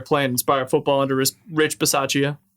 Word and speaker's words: Bisaccia: They're playing inspired football under Rich Bisaccia. That's how you say his name. I thought it was Basikia. Bisaccia, Okay.